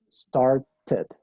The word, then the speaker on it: started: Y existe la tercera pronunciación, que es ed. Y eso es, bueno, cuando el último sonido del verbo es o T o D. ¿Sí? Que sería ridículo pronunciar, por ejemplo, start, ¿sí? Varias veces. Entonces en inglés se pronuncia started. ¿Sí? Comenzó, started. Entonces ahí sí se pronuncia ese sufijo, ed.